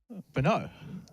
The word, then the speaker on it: Brno: Brno.